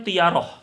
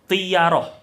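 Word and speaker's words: طِيَرَة: Di tengah-tengah mereka juga ada keyakinan tiyaroh. Bikasrin fafathin. Tiyaroh. Bacanya jangan salah. Dengan kasroh kemudian fathah. Tiyaroh.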